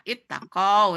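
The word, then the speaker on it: اتَّقَوْا: Tapi kalau ditulis ittaqoyu, oh yu-nya ini berdampingan dengan waw berarti hilang. Maka bacanya ittaqau gitu.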